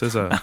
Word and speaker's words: SZA: But it's pronounced SZA. I know. I was talking to Gladwell about it, about SZA, Mm-hmm. and they were like, I didn't know how to pronounce that at first. Yeah, I heard it pronounced at some point. I mean, it follows with like RZA. RZA and Jizza from Wu-Tang Clan.